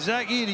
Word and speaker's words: Zach Edey: The drop back and Zack Edy, you said it right, partner.